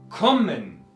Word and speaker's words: kommen: Kommen. 2. Separamos justo entre las dos M's. Kommen. Y donde acentúo kommen en la primera sílaba.